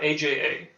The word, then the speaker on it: Aja: Anna how do you say aha alejandre aha Aja yeah say AA ah ah take anyway uh